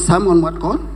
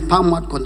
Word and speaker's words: Pam Mwadkon: My name is not Samuel Gyang but my name is Pam Mwadkon Chungyang.